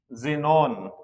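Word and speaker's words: xenon: जब कोई वर्ड कोई स्पेलिंग के शुरू में एक्स आता है तो उसकी जो प्रोनंसिएशन रहती है वह ज रहती है। जैसे जाइलोफोन जेनोन ज़ेरॉक्स तो देखिए मैंने तीन स्पेलिंग लिखी है यहां।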